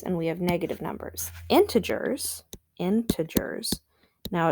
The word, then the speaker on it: integer: have positive numbers and we have negative numbers integers integers now it's it's spelt like this and it's pronounced into jur so like think about it for a minute